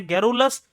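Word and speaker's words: garrulous: एक वर्ड दिया गया प्यारे बच्चे, जिसका मतलब है गैरुलस, मतलब जिसका प्रोनाउंसिएशन है गैरुलस।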